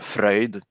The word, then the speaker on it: Freud: So by the way, for all the English speakers on in chat, it's pronounced Freud, not Freud.